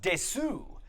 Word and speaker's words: desu: When you see o genki desu ka written out, you might imagine that that middle word is pronounced desu, but that U comes out suppressed like this, o genki desu ka?